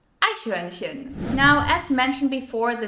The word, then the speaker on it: Eichhörnchen: If you really want to put your pronunciation to the test, try the German word for squirrel. It's pronounced Eichhörnchen. Eichhörnchen.